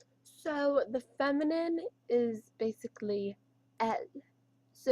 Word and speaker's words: elle: So the feminine is basically L. So it's spelled like E-L-L-E, but it's pronounced as L. So if you're talking about a girl, it is L. E-L-L-E. You have to know exactly how to pronounce that, or else people will not know